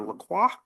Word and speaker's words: LaCroix: I believe it's LaCroix. Okay. That's how I pronounced it. It's like the water, huh?